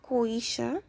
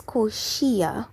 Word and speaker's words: Koshia: But we'll see more of Koisha later on. A lot of Koisha, actually. She seems to be the villain, as I said before. I keep saying her name wrong. It's Koshia, my bad.